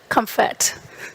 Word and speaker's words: Kemfert: We have Professor Claudia Kemfert.